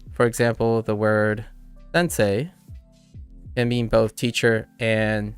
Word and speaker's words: Sensei: say oh oh yeah I forgot the N that n syllable took me by surprise that sound I didn't think the n Sound was a separate but say say and say e so Sensei Sensei Sensei uh Sensei